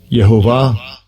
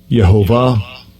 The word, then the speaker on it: Yehovah: Yehovah. Yehovah. Yehovah. So it's very similar to Jehovah. Very similar to the way we say it in Spanish, Jehová.